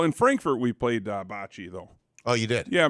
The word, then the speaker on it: bocce: always thrown off that they would pronounce it the world series of botch is how they would say yeah yeah so I know it's Bocce I know it's Bocce